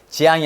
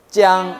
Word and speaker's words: 将: 지옷인데 일성이기 때문에 아까 일사성은 된 소리는 난다 그랬으니까 지양이 아니고 찌양 이렇게 된다 했잖아요.